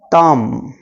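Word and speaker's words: thumb: एन यू एम बी इन सारे words में जो बी रहता इसका साउंड नहीं होता जब हम इसको प्रोनाउंस करते इसको बोलते तो कॉम नम तम तो कॉम थ्रू का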